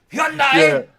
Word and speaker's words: Hyundai: Hundai runs with rhymes with Sundai. Sundai. Now, I can't say Sundai, right? Hyundai.